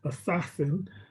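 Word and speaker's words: ASASSN: thing that they call it's apparently pronounced assassin a sawsn 15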